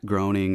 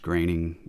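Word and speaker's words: Groening: this, but apparently like Matt Groing or I think it's pronounced graining maybe the creator apparently he's like a 33rd degree Freemason.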